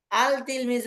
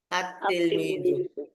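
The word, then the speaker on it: التلميذ: এর শুরুতে আল লাগা আল তিলমিজ বলা যাবে না লেখতে আসবে আল তিলমিজ উচ্চারণে আসবে তিলমিজ লিখতে হবে আল তিলমিজু কিন্তু পড়তে হবে আতলমিজু লাম যে আছে এটা বোঝা যাবে না ঠিক আছে লামটা কোথায়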